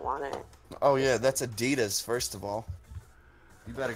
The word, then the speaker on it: Adidas: It's actually pronounced Adidas.